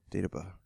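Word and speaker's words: Dagobah: was like, "You have to go to the Data Bus system." I said it right? Yeah. Data Bus.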